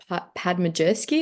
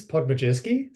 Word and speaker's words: Podmajerski: Tori Padmajerski, if I pronounced that right, Angus? I think it's Podmajerski. So Podmajerski.